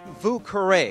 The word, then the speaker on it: Vieux: because of that reason actually it's Vu which just means the